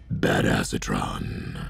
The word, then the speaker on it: Badassatron: is um bad acetron which is actually pronounced bad acetron um we're going to